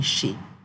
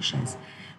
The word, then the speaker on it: chez: So when you want to say in the house of someone, you say chez. Don't pronounce it chaise.